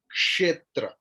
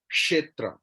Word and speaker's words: क्षेत्र: Some Hindi influence is there that you are telling Kshetra. In that way, they say Lachman. But this is Dehati Hindi. Lachiman, वहां से आ गया ना। लेकिन actual Sanskrit pronunciation is Kshetra. Ksha, sha. Ka and मूर्धन्य श।